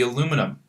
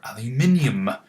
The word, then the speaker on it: aluminium: If it had an extra proton, it would be aluminum, or aluminium, as British say.